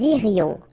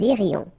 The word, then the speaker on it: irions: Okay, so let's make this little liaison between the two. Nous irions, final S not pronounced. Nous irions.